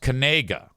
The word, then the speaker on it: Knigga: So Noah Kanega, and on the back of his jersey it says Knigga, goes to Eastern Michigan University. Ben says the K is silent. No, I don't think it is. Noah Kanega is a linebacker for Eastern Michigan University.